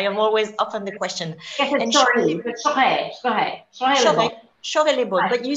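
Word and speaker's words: Chorey-lès-Beaune: So some people don't know how to pronounce. So it's Chaurey, like you say, shoot. It's Chaurey Le Bon, not Corey. So right. I am always often the question. Chaurey Le Bon, but you say it very well, Wendelin.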